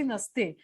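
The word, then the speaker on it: Nice: आता स्पेलिंग जे आहे नाहीच येतं, पण उच्चार बरोबर. करताना आपण निस आहे.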